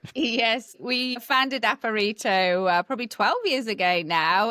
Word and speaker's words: Aparito: We founded Aparito probably 12 years ago now and we we do pronounce it Aparito but it gets pronounced in many ways and